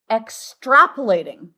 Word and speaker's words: extrapolating: That's called extrapolating. And the accent is on the trap.